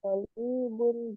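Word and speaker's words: طالبٌ: Anta tolibun jadidun. Apakah kamu pelajar yang baru? Naam, betul. Ana tolibu jadidun. Saya siswa baru. Ya, teman-teman. Tapi dibacanya bagaimana? Tolibu. Tolibun. Toknya yang panjang.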